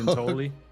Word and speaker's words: Giuntoli: was his, how do you pronounce his last name? Neil Giuntoli. I almost say Giuntoli. There we go. Giuntoli.